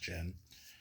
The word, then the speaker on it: Gen: So one of my favorite books ever is Barefoot Gen, or sometimes I call him Gen, but it's pronounced Gen.